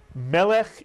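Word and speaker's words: מלך: The accent is on the first syllable. Melech is correct.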